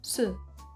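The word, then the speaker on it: 四: algo bueno el 4 el número 4 que se pronuncia como su es homófono de la palabra muerte que se pronuncia como su por tanto se considera un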